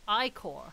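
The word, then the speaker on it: ichor: with a magical ickle that's pronounced i-core uh oh I core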